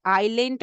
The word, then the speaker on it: island: First is island of Langerhans, S is silent, island of Langerhans, and second one is acinar cell.